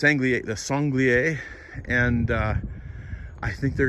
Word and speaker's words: sanglier: totally endless these uh sangli air have destroyed this yard songlier i should say it correctly good news over time